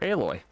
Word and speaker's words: Aloy: um it said alloy on it like as in aluminum alloy or a metal alloy. So her tribe named her after that called her Aloy cuz they didn't know